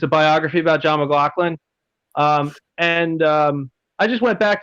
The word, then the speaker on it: McLaughlin: It's pronounced McLaughlin.